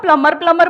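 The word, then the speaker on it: plumber: सर उसको खुद ही नहीं पता कि बी साइलेंट है। आप हाँ। उसको प्लम्बर बोलोगे, शायद उसको अजीब लगे, मैडम फालतू क्या एक्सेंट मारी।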